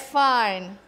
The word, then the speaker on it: Fiennes: Can you pronounce? Fine.